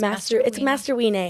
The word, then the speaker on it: MasterWeenay: It's MasterWeenay. Weenay, yes. But if you see me, you call me.